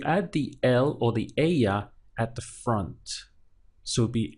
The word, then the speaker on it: ella: So él would stand for him, él, and ella would be her with the double L pronounced as a Y.